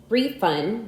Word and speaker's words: refund: Some 24 two-syllable words in English are stressed on the first syllable. If used as nouns, however, if used as verbs, these same words are usually stressed on the second syllable.